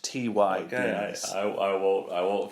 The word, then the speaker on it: Ty: you correct me Jordan in this home it's pronounced Ty I I will I